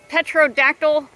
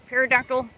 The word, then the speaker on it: pterodactyl: oh look at this I think you pronounce it petrodactyl pterodactyl isn't this radical so this